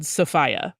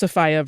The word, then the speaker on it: Sophia: really really lovely but they all said sopia yeah every one of them and I was like okay this is an official event I'm going to prioritize this rather than like you know just people who are randomly talking about her um so that that was my there were others that used safia versus sfia but that was like the decider for me well I my gut